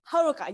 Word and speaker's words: Haruka: Your name pronunciation, Raisa? Raisa, yes, you are right. And your name, Haruka? Haruka, yes.